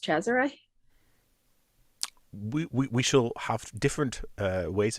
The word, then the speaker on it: Cesare: Well, it's an Italian name, and as far as I'm aware, it's pronounced Cesare.